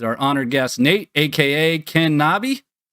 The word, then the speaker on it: KenKnobi: honored guest Nate AKA Ken knobby I have been guilty in previous streams of mispronouncing your name as Ken Kenobi how often does that